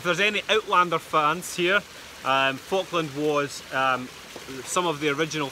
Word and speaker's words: Falkland: It's spelled F-A-L-K land. Yeah. Falkland.